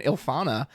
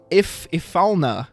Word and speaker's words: Ifalna: Speaking of which, if you would like breakable backups, may I interest you in Ilfana? Ifalna. I actually have never pronounced it out loud before.